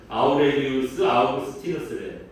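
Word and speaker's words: Aurelius Augustinus: 우리가 흔히 어거스틴이라고 얘기하는 사람입니다. 원래 발음은 아우렐리우스 아우구스티누스래요.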